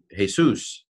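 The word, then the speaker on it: Jesús: j ust o gusto so J's so hey soos it's a H not a J sound or Y sound or whatever mixes in with Hebrew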